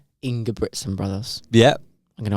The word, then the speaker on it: Ingebrigtsen: Ingebrigtsen. There's a second G in there.